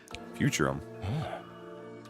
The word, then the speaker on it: Futurum: Futurum. That's what it's called. That's the name of this planet. That's how it sounded pronounced in the local tongue anyway.